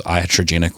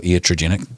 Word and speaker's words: iatrogenic: it's estrogenic harm and whether you know that word is iatrogenic or iatrogenic depends how you say it it means harm